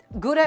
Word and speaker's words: Gouda: Gouda and Gouda, by the way, both of those are actually technically correct pronunciations. Gouda is technically the correct anglicized pronunciation, and I believe Gouda is the original pronunciation, if I'm not mistaken.